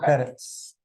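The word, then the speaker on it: Perthes: said at some point, I believe, to Volker Perth, I don't know, you know how to pronounce his name, but the UNITAB's person. The former. What's his, how do I pronounce that, please? Volker Perez.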